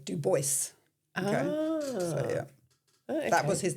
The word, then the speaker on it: Du Bois: Um Europeans say Du Bois and all Americans say Du Bois. Okay. That was his name cuz he was American. So, he was Du Bois and he's from Des Moines.